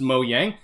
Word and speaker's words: Mojang: you guys pronounce this mojang or mo yang i watched a video about this where they're saying like this is originally a swedish word that's pronounced mo yang oh hold on i